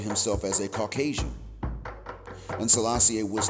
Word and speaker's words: Selassie I: a is nothing special now I know y'all pronounce it Selassie I that's Selassie a number one but in actuality Selassie a is the heart pronunciation so that's where I'm saying it this way likewise we know that